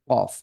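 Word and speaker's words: ق: থাকে তাহলে হয়ে যাবে কফ। তাহলে ফা, কফ, ফা, ক, ক। কফের উচ্চারণ কিন্তু ধাক্কা দিয়ে, জিভের গোড়াটা তালুর সাথে লাগিয়ে একটু ধাক্কা দিয়ে দিয়ে ক, ই, কু, কফ, কফ।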